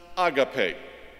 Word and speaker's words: agape: the Christian writers use the one that is pronounced agape it was selected to describe the particular quality